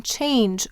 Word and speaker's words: change: Why do we have a silent E in change, orange, large, language, and avenge? What would it say? What would this say without the E? It would say chang. So the G softens to J because of the E in these words.